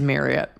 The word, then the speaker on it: Marriott: Kudos to you for pronouncing it correctly. It is Marriott only because you've done ads for them